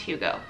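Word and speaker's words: hygge: it's the hugo lifestyle it looks like higgy to me but i think it's pronounced hugo it's a danish uh lifestyle and it's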